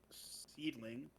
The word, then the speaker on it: Seedling: Well, Nane gave up her ownership, I guess, of Seedling, is how it's pronounced.